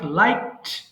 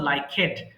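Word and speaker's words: liked: লাইক, পছন্দ করা, লাইক, লাইকড, লাইকড। Unfortunately many of the students pronounce this word লাইকেড, অনেকে ভুল করে লাইকেড বলে ফেলে, বাট এটা হবে লাইকড।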